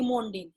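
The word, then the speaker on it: Zsigmondy: किसने किया था सिर्फ Monday जेड यहां पर साइलेंट है बेटा आप इसके बाद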